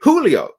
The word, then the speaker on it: Julio: name but welcome H Julio Julio Julio Julio because the J is pronounced with a an H isn't it it's not it's not a j it's a Julio I